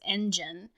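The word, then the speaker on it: ENGENE: and then i think their um fandom name is engine and but it's not spelt engine it's spelled like and gene so like the genes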